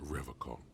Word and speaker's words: Revachol: Revachol with a hard K.